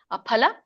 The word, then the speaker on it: ಅಫಲ: ವ್ಯಂಜನ ಮಮೇಲೆ ಮೂರನೇ ಚಿರಣ ಅಫಲ ನೋಡಿ ಪ ಎರಡು ತೊಟ್ಟಿ ಹತ್ತಿದಾಗ ಬರುವಂತ ಪ ಹೇಳಬೇಕು ಅಫಲ ಪ್ರೇಪ್ಸುನ ಪ್ರೇ ದೀರ್ಘ ಇದೆ